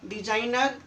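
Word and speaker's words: designer: जब भी जी के बाद एन आए किसी शब्द में तो आपका जी साइलेंट होगा। डिजाइनर, साइन, assignment.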